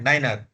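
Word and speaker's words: niner: वहां पे कॉशन लेना है, थोड़ा सा ध्यान देके 9 को बोलना है, नाइनर। और ये कब होगा पता है?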